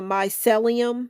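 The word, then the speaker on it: mycelium: The Myelium. I'll spell it out just in case I'm saying it wrong.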